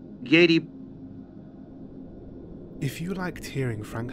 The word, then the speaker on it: Giedi: The word is pronounced as it is spelled. Giedi.